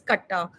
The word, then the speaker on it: katta: Again, they started paying 5 lakhs per katta, because for me, the way I pronounce is katta. In Delhi, the land stuff is pronounced in different way.